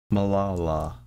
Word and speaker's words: Malala: Okay, Just type it, you don't know how to pronounce it. Malala is what it is.